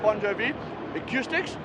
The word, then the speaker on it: Bon Jovi Acoustics: It sounds like a singer. I double checked the spelling, and not the spelling, the pronunciation today. It actually is said Bon Jovi Acoustics.